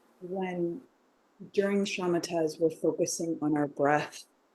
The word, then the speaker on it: Shamata: Shamata. Could you explain a little Shamata bit? is spelled several different ways in English. SHAMATA, And you find it in every Buddhist school, and it means quietude or quiescence.